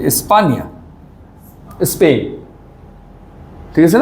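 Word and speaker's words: España: স্পানিয়োল এই দেখেন এনিয়ে হ্যাঁ এনি এর কারণে উচ্চারণটা কিভাবে হচ্ছে স্পানিয়োল আর যাব কোন দেশে স্পানিয়া এই যে স্পানিয়া স্পেইন ঠিক আছে না স্পেইন তাহলে এটা হলো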